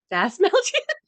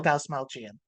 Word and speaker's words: Dastmalchian: Starring David that Dasmalchian. I mean, I'm probably pronouncing it wrong too. David No, Dastmalchian. thank you.